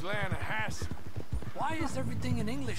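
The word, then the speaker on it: Lannahechee: But it's pronounced Lanahatchee.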